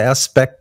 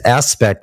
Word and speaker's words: Aspect: Let me read this little part about the aspect. It's aspect, but it's French, bitch. So it's pronounced Aspe.